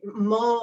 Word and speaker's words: Mull: of appalachia it would be the isle of mall in scotland off the coast of scotland it's spelled m-u-l-l and um mole on that but they call it mole magic